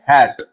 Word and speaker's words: hate: जैसे अगर हम बात करें हैट, यहां हम लोग इसे बोलते हैं हैट। अब हम लोग देखेंगे HATE, तो इसे हम लोग बोलते हैं हेट। यहां हम लोग देख सकते हैं ई साइलेंट होता है।